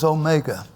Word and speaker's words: omega: English W English W but it is um pronounced like the O and not it is always an O an o sound mhm an o sound